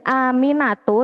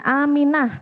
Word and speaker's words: Aminah: Sini bacanya Aminatu, tapi biasanya kalau Arab itu diwakofkan, jadi hanya Aminah, seperti itu ya membacanya.